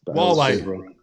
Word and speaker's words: Huawei: I always get the name wrong. Huawei. Huawei.